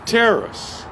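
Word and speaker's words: τέρας: word is t-e-r-a-s and it's pronounced terrace everybody say terrorists terrorists is translated wonders so every when you see the word wonders in the new testament it's this word terrace terrace means something manifested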